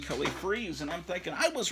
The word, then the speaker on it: Freas: And I guess it wasn't, so it's Kelly Freas. I'm back to the way I pronounced the name for many decades.